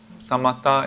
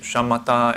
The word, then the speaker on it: samatha: So in the Buddhist meditation, there are two main parts, samatha and vipassana. Yeah? Or if you use Sanskrit, shamatha and vipassana. Yeah? So just some slight pronunciation difference.